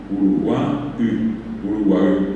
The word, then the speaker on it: Uruguay: Y lo mismo ocurrió con la palabra Uruguay, que bien pronunciada la palabra Uruguay, Uruguay, así junta. Y el Uruguay, o la primera U que está al principio, la es nasal, y se refiere a un tipo de caracol de mar.